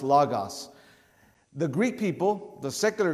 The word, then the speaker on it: logos: logos or lagos it's it's spelled out logos but it's pronounced lagos the greek people the